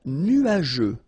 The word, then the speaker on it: nuageux: Un ciel couvert, un ciel nuageux. This can be quite tricky, but take the time to nuageux. Remember, final X here not pronounced.